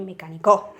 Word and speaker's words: mecánico: La palabra mecánico, como vemos, el golpe de voz lo vamos a tener en mecánico, porque no decimos ni mecánico, ni mecánico, ni mecánico, ¿vale? Sino que más bien al pronunciarlo decimos mecánico.